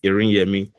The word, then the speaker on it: Iriyemi: But yeah, thank you so much for pronouncing it very well. Accurately, it's Iriyemi.